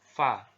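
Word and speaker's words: ف: huruf fadv ini ya diucapkan dengan menyentuhkan ujungnya dua gigi seri kita bagian atas dengan bibir bawah bagian dalam simpelnya seperti kita mengucapkan huruf f dalam alfabet gitu ya Va seperti itu jadi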